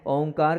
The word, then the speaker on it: ओम: आपके काम आए उसको हम बता रहे हैं ओमकार का उच्चारण कैसे करना है यह ओम है इसमें